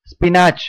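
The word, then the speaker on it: spinach: இதை எப்படி சொல்லுவோம், ஸ்பினாச் அப்படின்னு சொல்லுவோமா, கீரை இல்லையா. கீரையை வந்து ஸ்பினாச் அப்படின்னு சொல்லி தான் நம்ம பழகியிருக்கோம். இப்போ இதுக்கான ப்ரொனன்சியேஷன் ஸ்பினாச் கிடையாது, ஸ்பினிச், ஸ்பினிச், ஸ்பினிச்.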